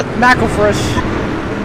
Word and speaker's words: McElfresh: Is it McElfresh or McElfresh? I'm trying to... McElfresh. Yeah, McElfresh. Okay. I'm thinking of mackerel when I say his name.